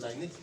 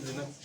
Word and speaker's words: Linux: ओएस जैसे आप Windows use करते हैं वैसे ही लिनक्स है, ठीक है। राइट प्रोनाउंसिएशन इसका लिनक्स ही है, हम लोग भले ही लाइनक्स बोलते हैं, लिनक्स।